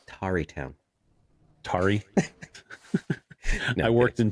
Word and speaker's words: Tarrytown: And it's actually pronounced Tarrytown. Tari. No, I worked in Terrytown a long time.